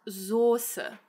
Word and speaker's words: Soße: So this word is not pronounced Soße, but it is pronounced Soße.